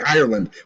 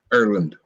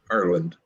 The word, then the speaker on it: Ireland: say Ireland correct, because I say it like a fucking New Yorker. I say Ireland. We like vowels here in the country. He said, no, it's Ireland. I went, oh, Ireland. It's all Ireland.